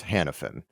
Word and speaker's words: Hanafin: fan so hold on a second i'm still pronounced hanafin it's just right it's an ellis island thing